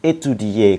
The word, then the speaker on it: étudier: Rồi, đối với động từ kết thúc là ier thì chú ý cho mình là chữ y chúng ta vẫn phát âm cho thật là rõ. Prononcez bien le i.